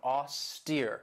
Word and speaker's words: austere: And this has 2 syllables, and the stress is on that second syllable with that long E sound, austere.